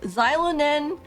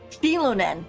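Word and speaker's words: Xilonen: but unfortunately with xylon nen coming or not xylon keep saying it's zy because it's zure with it's X sheilon nen that's how you say her name sheilon nen coming up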